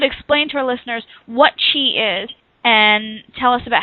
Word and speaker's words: qi: So Qi, yes, and if you could explain to our listeners what Qi is and tell us about how people can actually start to see it.